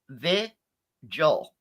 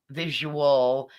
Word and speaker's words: vigil: all eyes up here it's viel not visual visual it is a two syll syllable word very simple the Joel pretty simple spell it form spell for v i g i l fuing kidding me very